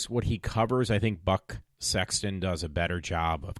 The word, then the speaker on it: Buck Sexton: I said his name wrong before, one of the people that cover it, and it was Buck Sexton, I think it is. I said Bud Sexton, but I think it's Buck. B-U-C-K.